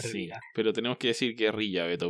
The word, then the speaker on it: guerrilla: Pero tenemos que decir guerrilla, Beto, porque no aceptó guerrilla que dicen los gringos. Que según ellos se pronuncia casi igual que gorila.